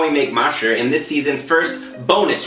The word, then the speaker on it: 麻食: us how to make Mashi. Now off the bat, you need to be careful with the pronunciation of this word. Okay, if you mispronounce it, you can say a slang word for horse poop.